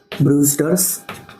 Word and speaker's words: Brewster: ब्रूस्टर्स angle. ये जो scientist का नाम है ब्रूस्टर इस तरह से दिया हुआ है। बट उसे प्रोनाउंस करने के लिए ब्रूस्टर इस तरह से बोलना है।